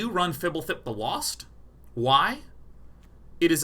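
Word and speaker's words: Fblthp: This is pronounced Fibblethip.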